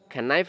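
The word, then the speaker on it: knife: ইয়ামা দে এবারে কিন্তু নাইফ ন ফরিব ফরিব দে নাইফ কের বাদ যদি এন তাকে সাধারণত খে সাইলেন্ট লেটার হিসাবে তাকে তাহলে দিস ইজ এ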